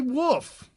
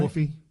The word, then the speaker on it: Wolfe: Then we got James Ray Wolfe. I imagine that's how you pronounce it correctly. W-O-L-F-E, not right. Wolfie. No, it's Wolf.